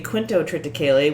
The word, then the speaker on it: quintotriticale: Excuse me, Quintotriticale, which explains why I kept not understanding what the fuck they were saying.